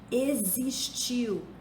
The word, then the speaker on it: existiu: Existiu se escreve com X, mas se pronuncia como se fosse Z.